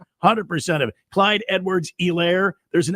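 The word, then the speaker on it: Helaire: Anytime you uh you draft a guy with with the H in his name, you don't pronounce the H.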